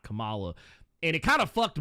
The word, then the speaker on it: Kamala: And then when she became VP, they were like no, actually, her name is Kamala. It's not Kamala.